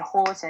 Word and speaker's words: Julaton: incorrectly, and it's because it starts with a J, and typically you'll have that J sound when you look at it, but it's actually pronounced as an H. So just to have Hurricane Julaton, it kind of had